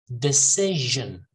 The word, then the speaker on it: decision: next purpose per purpose decision decision decision in the middle the stresses in the middle decision decision harass her grass